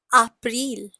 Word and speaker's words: April: So spelling is same, but the pronunciation is April.